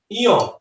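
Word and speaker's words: ঞ: তারপরে এই যে তালব্য বর্ণ চ, ছ, বর্গীয় জ, ঝ, এটার নাম হচ্ছে ইয়। দেখেন ইয়, একটা হচ্ছে ঙ আর একটা হচ্ছে ইয়। পরীক্ষায় প্রশ্ন হয় ও ইয়, মনে রাখবেন উত্তরা।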